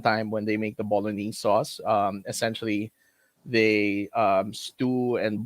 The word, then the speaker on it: bolognese: No, in Italian, it's they pronounce it bolognese. Although it's been sort of anglicized to be bolognese, but essentially it comes